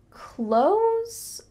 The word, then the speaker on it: clothes: incorrectly did you hear clothes or clothes you heard the second one but really that's not correct instead when we speak in fast English we often pronounced clothes a lot like close the door I buy clothes through